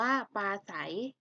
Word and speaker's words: ปราศรัย: จริง อ่าน ว่า จริง ปราศรัย อ่าน ว่า ปลา ไส เป็น เด็ก เห็น ไหม